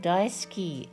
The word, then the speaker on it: daisuki: Oh, just FYI, the U is usually almost silent in Japanese when pronouncing daisuki. Oh, daisuki.